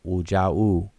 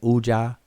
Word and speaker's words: Wuja: That second word, Uja, should be pronounced Wuja. But they say Uja, and they don't have that W pronunciation on the front end, but it's really Wuja.